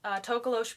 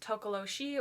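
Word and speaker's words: Tokoloshe: So there's a few different pronunciations, Tokolosh being the most common. There's Tokoloshi or Tokolochi.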